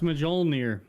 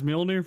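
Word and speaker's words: Mjölnir: Like Mjolnir, Thor's hammer is spelled like Mjolnir. Yeah, it's Mjolnir.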